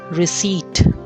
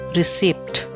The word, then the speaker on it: receipt: bowl next word is receipt receipt not receipt p is silent receipt one who sets